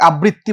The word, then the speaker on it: আবৃত্তি: এই উচ্চারণ অনেকে ভুল করে, অনেকে আবৃত্তি বলে, অনেকে আবৃত্তি বলে।